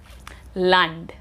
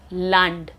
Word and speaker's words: Land: Land. Land. It's not land, it's land because A is pronounced as A.